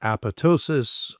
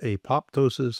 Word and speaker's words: apoptosis: The first one we talked about was a process called apoptosis, also sometimes referred to as apoptosis.